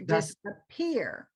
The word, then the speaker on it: disappear: capital capital disappear okay so we're going to put the stress here disappear disappear disappear uh medicine